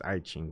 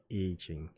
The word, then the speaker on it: I Ching: A lot of people would pronounce it as I Ching, but it's I Ching.